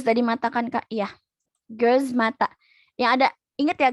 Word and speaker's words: göz: Göz mata. Yang ada, ingat ya guys, ada E-nya. Ada titik dua titik di atas O. Jadi bacanya E. Bukan O biasa.